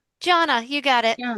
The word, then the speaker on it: Gianna: G, did I do I say your name wrong? Janna. Janna, you got it.